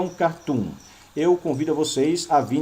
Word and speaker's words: cartoon: Um cartoon, a pronúncia é cartoon, tá? Cartoon. Porque se fosse cartoon, teria o acento no A.